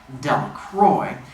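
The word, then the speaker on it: Delacroix: jones and the dicky delicrocks the builders pronounced his name del croy eventually made a great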